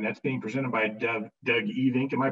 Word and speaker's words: Evink: aircraft preheating and that's being presented by doug e think am i pronouncing your name right doug yes okay good doug even he's the president and owner of tannis aircraft